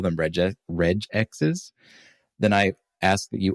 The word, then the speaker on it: regex: Jif so whatever soft G is following through here with reg X it's a funny it's a funny debate although I do have to say if you're gonna call them reg reg X's then I ask that